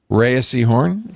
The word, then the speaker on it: Rhea Seehorn: Rhea Seehorn for Pluribus.